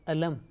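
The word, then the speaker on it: ألم: Lam takes Fatha and La, and Mim takes symbol of Sukoon, Jazm, and it is pronounced Alam.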